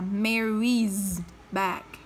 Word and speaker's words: Mary's: Mary thì khi chúng ta đọc là Mary thì có phải nó kết thúc bằng âm y không ạ? Nó kết thúc bằng âm y tức là nó kết thúc bằng nguyên âm, vậy nó cũng phải đọc là z. Vậy cái này cô sẽ đọc là Mary's back.